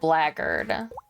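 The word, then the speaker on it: blackguard: in like Medieval Times is spelled like Black Guard but they pronounce it like it's got a bunch of G's in it right but the subtitles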